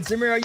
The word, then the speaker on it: Zemero: One of our editors, Zemero, is here. He rhymes with my name. He's a Seattle Seahawks fan. I mean, Zemero, you've been listening to the podcast.